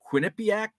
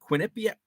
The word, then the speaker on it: Quinnipiac: I get off uh John says first syllable of Quinnipiac Quinnipiac Quinnipiac uh boombah's down